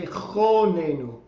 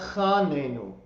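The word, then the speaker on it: חָנֵּנוּ: You may have heard me say chonenu, not chanenu. Okay, it's another one of those what's called kamatz katan, which means little kamatz, except they print it bigger so that you don't miss it.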